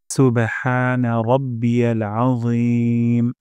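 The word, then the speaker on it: سبحان ربي العظيم: red mark দেখা যাচ্ছে র মোটা করে উচ্চারণ করব আজিম আ গলার মাঝখান থেকে এবং মোটা করে যেন না হয় সুবহানা রাব্বিয়াল আজিম সুবহানা রাব্বিয়াল আজিম অর্থ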